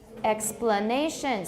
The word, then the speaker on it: explanation: Explanation. So we've got stress on two syllables there, both X and nay, but one of them has tonic stress.